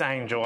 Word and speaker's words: Angle: Angle Hall? Oh, it's Angel. I know it's spelled like Angle.